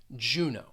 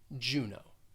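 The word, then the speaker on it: Juneau: with a long o juno so so keep this in mind when you see a word that ends with that e a u you're going to pronounce it with a long o juno next is seattle and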